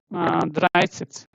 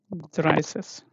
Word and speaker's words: Dreißig: Okay, so 30 is called Dreißig. Okay, let me write. 30 is Dreißig. Dry. Till here there is no problem. Cis. Okay, double S, right? Dreißig.